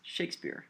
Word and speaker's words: Shakespeare: Hopefully you recognize that the correct pronunciation is Shakespeare. We accent the first syllable.